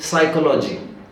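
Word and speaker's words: psychology: होगा क्या मैं इसलिए पी से चालू होगा पी साइलेंट देर शांत रहो स कमिंग अहेड समझ रहे कुछ पी साइलेंट है बट वो है प्रशन में नहीं है लिखने है ठीक उसी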